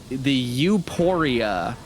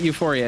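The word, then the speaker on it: Euporia: The Uphoria. Twin blades oh my symbolizing... god, it is spelled Uphoria. Yeah, it's not Euphoria, it's Uphoria.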